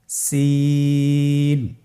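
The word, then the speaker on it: سين: ছবিতে দেখতে পাচ্ছেন জিহ্বার আগা সামনের নিচের দুই দাঁতের পেট ও আগার সঙ্গে লাগিয়ে উচ্চারিত হয়। যা এর মতই জায়ের যে মাখরাজ সিনেরও একই মাখরাজ আপনারা সিন হরফটি আবার উচ্চারণ করুন সিন আবার উচ্চারণ করুন সিন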